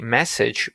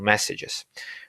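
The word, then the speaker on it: dmesg: message command and the message basically i read it as the message but it's spelled differently and that command is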